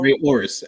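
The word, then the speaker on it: Rey Horus: We have Ray or how you pronounce that, J News? Because I'm about to mess it up. Oris Yeah, or Ray Oris. Exactly. Yeah, Ray Oris.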